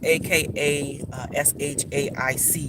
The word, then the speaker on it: Akashic: Those who are not familiar with the Akashic, it's pronounced in different ways because we talk about dialects from all over the world. So it's AKA SHAIC. You might see it spelled that way, Akashic.